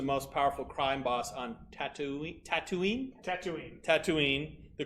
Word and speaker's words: Tatooine: So it's pronounced Tatooine. Tatooine. Tatooine. Tatooine. Tatooine. Yep. Like I'm going to give you a tattoo, therefore I am tattooing you.